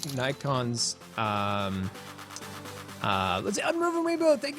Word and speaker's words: Nikon: Technically, I think I heard that the Japanese, who should know because it's their company, pronounce it Nikon. So if that's the case, then it probably is Nikon, but I'm just